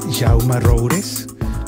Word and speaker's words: Jaume Roures: con Jaume Roures. ¿Lo pronuncié bien, Jaume? Lo pronunciaste bien.